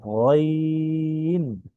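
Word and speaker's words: غين: তারপরে এখানে তার পরবর্তী যে হরফটি দেখছি সেটা হচ্ছে হলো গইন। গইন, এটাও একদম সহজ, কণ্ঠনালীর শেষ ভাগ হতে, ঠিক আছে, খ আর গইন এক জায়গা থেকেই উচ্চারণ হয়।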